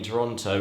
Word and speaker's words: Toronto: Fun fact, did you know that the first O and the second T in Toronto is not pronounced in native Canadian?